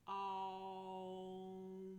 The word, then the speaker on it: Om: So my tongue is at the roof of the mouth. So it's Om.